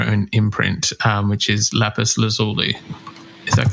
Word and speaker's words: Lapis Lazuli: label, on your own imprint, um which is Lapis Lazuli. Is that correct? Yes. Yeah. Firstly, did I pronounce it correctly?